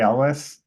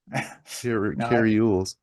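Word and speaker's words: Elwes: name kri ules oh Carri Elis not not not according to James kules no I think it's Elis that's how I've heard it before anyway Robin Hood Men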